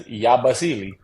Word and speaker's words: Yabusele: Yazabelli? Yabusele. Yabusele. Yabuseli. Yeah, no, it's y'all pronouncing it wrong. Yeah, it's Yabasili.